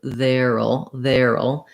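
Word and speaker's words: there'll: will be um but in speaking we do contract their will to veril um and it is a little bit challenging because we have to go from the air to the syllabic l so how that looks is we're going to have our voice th sound we'll have our air um diphthong and then we'll have just our syllabic l so in the dictionary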